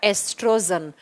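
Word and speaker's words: estrogen: व होता है बच्चा एस्ट्रोजन लिखा जाता है ओ से प्रोनाउंस करते हैं एस्ट्रोजन ओ साइलेंट हो जाता है प्रोनाउंस एशन के समय एस्ट्रोजन एस्ट्रोजन हार्मोन और एस्ट्रोजन हार्मोन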